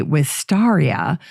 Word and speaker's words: wisteria: Nuttall named the genus wisteria in Casper with stars honor some people say with stariha to reflect the proper spelling of with stars last name however you pronounce it the misspelling is preserved